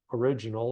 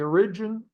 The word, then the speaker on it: origin: three pivot Points we've got the origin origin origin I put the infas on the wrong salable emphasis on the wrong syllable um uh so the